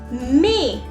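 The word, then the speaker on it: maïs: May. May means sweet corn. So you can see here two vowels are coming together and I'm pronouncing the sound of both the vowels differently.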